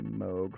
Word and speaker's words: Moog: Probably a Moog filter because the Moog filters are nice. And yes, I said Moog and not Moog because it is Moog and not Moog. Important to know because it's a person's name.